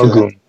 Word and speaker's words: Ogun: Shango and Ogun and Ogun is how you pronounce it. Okay. Ogun.